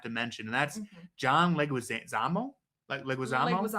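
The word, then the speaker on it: Leguizamo: and I have to mention and that's John Legu Zamo. Leguamo Leguisamo. Yeah. I apologize if I said his name wrong.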